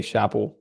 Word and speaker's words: Shapo: That's how you say it. You say Canadian, you'd say Shapo.